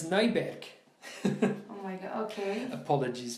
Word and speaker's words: Neuberg: in 2005 by Brad Neuberg. Sorry, this is the German. No, how do you say it in English? How would you pronounce it in American? Brad Neuberg? Yeah, of course. No, it's Neuberg.